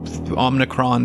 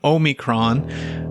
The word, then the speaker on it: omicron: uh all the best everybody and i hope omnicron doesn't uh or omnicron omicron which uh actually that was another topic i